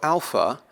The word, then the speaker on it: alpha: briefly here again so Alpha is going to be pronounced as art a as an art Alpha Beta will be